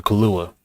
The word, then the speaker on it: Kaluuya: And what's the guy who played let's see, Daniel Kaluuya. Is that how you pronounce it?